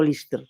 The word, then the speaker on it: Liste: final, ese bosque é o bosque onde gravei escenas o teatrillo da película Liste pronunciado Lister, na Guerra Civil, que era o teatrillo na guerra.